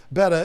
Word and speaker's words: betta: up this long comment explaining why betta is the appropriate pronunciation and it's so funny